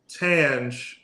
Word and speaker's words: Tanj: I want y'all to think of Tanj as spelled with a J, because it is. And I also want you to think of the J sound. When you say J.